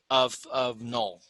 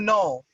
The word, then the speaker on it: Knull: We're just trying to say this is the cameo appearance of Null.